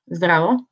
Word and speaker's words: zdravo: Hello, you say it zdravo, and you have it here written on both letters, so you can see how it's written in Cyrillic.